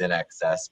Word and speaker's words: INXS: I mean, I've learned over time that's NXS, but you know, nobody knew how to pronounce it unless you learned.